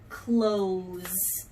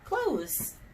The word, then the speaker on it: clothes: it's the e because the O is saying o clothes Oh OHS and the e is silent clothes close close the